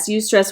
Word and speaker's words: eustress: something that is a good positive can you spell that for me yes e-u-s-t-r-e-s-s you stress which is a good i can still stress